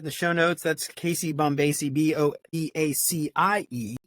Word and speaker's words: Bombacie: if you heard this before, but like Casey Bombacie, banana fana faux facey.